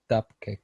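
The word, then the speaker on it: WCAG: web content accessibility guidelines dubcake it's normally the abbreviation is pronounced normally dubcake and this is then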